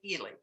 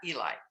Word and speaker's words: Ely: parker and it is he pronounced it ely not eli he said it would have had an eye there so elise parker's grandmother